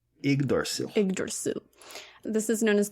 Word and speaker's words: Yggdrasil: And then the creation of the first man, woman, and the Yggdrasil.